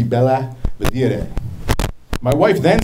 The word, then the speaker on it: Belvidere: And she told me the correct pronunciation would be Bella Vedere.